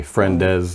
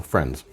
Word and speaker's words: friends: little walls nouns basically whenever we are making them plural we tend to emphasize the ending rule like friend is essentially adding a syllable that's not necessary friendes is not necessary it's one syllable friends all right all right